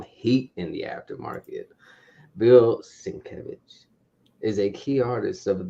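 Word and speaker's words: Sienkiewicz: we have Moon Knight annual one the bill sinkovitz one in 25 variant this is this book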